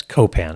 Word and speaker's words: Copan: Yeah, it's Copan. Accent on the first syllable.